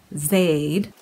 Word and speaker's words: Zade: already expecting her zade who pronounces her name as in aid with a z zaid meets the show blacks which